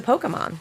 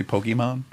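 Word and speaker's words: Pokémon: just said Pokemon Pokemon E isn't long I think it's a short e I've been going with a long e this whole time is what I'm admitting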